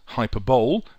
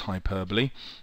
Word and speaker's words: hyperbole: all the persuasive writing techniques a alliteration H hyperbole which means ere exaggeration notice it spent spelled hyperball but pronounced hyperbole F is for facts uh a anecdote which